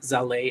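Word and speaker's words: Zallet: So we have the Zebra, the Zano, and then Saleh, which is Z. It's like spelled like wallet, but with a Z, and pronounced Zaleh as ballet, which is a full node wallet that ECC is developing.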